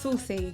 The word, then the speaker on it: Suhcy: Because how do you spell it? SUHCY. But it's pronounced saucy.